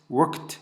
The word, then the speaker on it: worked: Мен ed деп айтып отырмын, негізі бірақ произношениеда айтылу ағылшын тілінде worked болады, яғни е оқылмайды, worked.